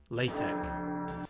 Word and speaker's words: LaTeX: final form of the A4 piece of paper latex and that is actually how you say it